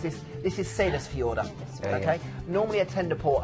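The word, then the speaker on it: Seyðisfjörður: four main port so people say you can't pronounce this this is sailors fee order okay normally attend a port over and again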